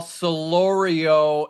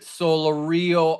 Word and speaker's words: Solorio: It is Val Solorio, and they have it wrong. They have it Solorio on the pronunciation guide.